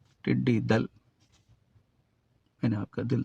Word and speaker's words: ٹڈی دل: ہے، ٹڈی دل مذکر۔ تو اس لفظ کا درست تلفظ کیا ہے؟ ٹڈی دل۔ میں نے آپ کا